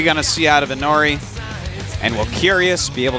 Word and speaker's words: Inori: Inori.